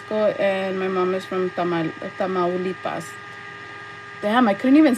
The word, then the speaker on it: Tamaulipas: Tamaulipas, Tamaulipas, Tamaulipas, Tamaulipas, Tamaulipas.